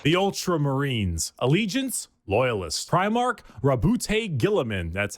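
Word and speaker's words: Roboute Guilliman: Primark Rabbout Gillaman.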